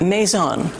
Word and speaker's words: Maison: No, it's not La Maison. It's pronounced Maison, Cafe and Market.